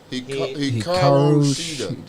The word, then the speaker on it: Hikaru Shida: Hikaru Shida.